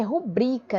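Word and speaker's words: rubrica: para vocês e olha o certo é rubrika né paroxítona terminada em ar então se a sílaba tônica nubri então não tem para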